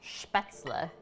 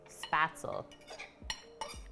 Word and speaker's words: spaetzle: you for the follow so it's a German noodle called specks Allah or if you want to say it like how I said it for the first few years spaetzle and then I got